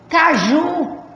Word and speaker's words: caju: Caju. A sílaba tônica é o ju.